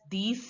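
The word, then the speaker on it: dix: again enough again Nerf ten is pronounced as these in French these these these I is pronounced as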